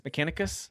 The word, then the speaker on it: Mechanicus: Uh Mechanis Mechan, how do you say this? Mechanicus.